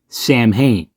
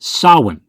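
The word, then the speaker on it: Samhain: And on the chalkboard it says Sam Hayne. That's how Lumis says it, but it's actually pronounced sawin.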